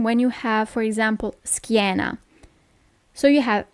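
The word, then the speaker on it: schiena: you have for example skana so you have s c h i e in this case you don't pronounce it sh but SK okay normally when you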